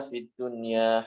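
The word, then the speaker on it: دُنْيَا: Fit dunia Rabbana Atina Fiddunya Hasanah disini bukan dibaca itu Homeland kan harus dijelaskan nun sukun nya dijelaskan fiddun ya Ada n-nya situ fiddun ya Ya dan kata sinwan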